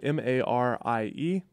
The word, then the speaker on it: Marie: I'm sorry, Mari. It's spelled Marie, and it's pronounced Mari.